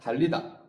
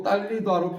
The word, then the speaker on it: 달리다: 달리다는 뜻이 바뀌어도 달리다라고 발음하는 게 맞다.